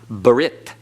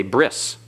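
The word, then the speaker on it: ברית: Same with the Hebrew word for covenant, brit. Brit in modern Hebrew is just Brit.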